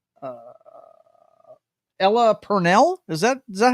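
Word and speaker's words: Ella Purnell: um what is that girl's name uh uh Ella Pernell is that is that how you pronounce that KN yeah Ella Pernell yeah she's freaking awesome yeah she is awesome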